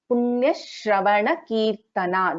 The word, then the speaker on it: पुण्यश्रवणकीर्तना: So Punya Shravana, Punya Shravana Kirtana. This is how we pronounce this particular word.